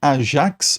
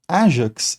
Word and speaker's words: Ajax: Mas para começar, né, Ajax ou Ajax é o nome de um herói grego que participa da guerra de Troia. Em grego antigo, o a pronúncia do nome seria algo como Aas.